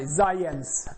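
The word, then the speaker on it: Zajonc: Classical study made by Zayens, as I learned it's supposed to be pronounced.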